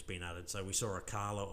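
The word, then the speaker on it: Acala: So we saw Akala or Akala, I'm not sure how it's said, I've heard it's Akala.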